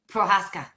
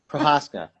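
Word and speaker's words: Procházka: Do you know how his last name is pronounced? No. Prohaska. Prohaska.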